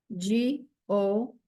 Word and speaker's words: goes: G-O-E-S. Remember that we don't hear the E, and the S sounds like a Z.